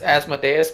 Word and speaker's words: Asmodeus: jerk it up last time I'm stomach it's Asmodeus but spelled with a different D that's my complete opposite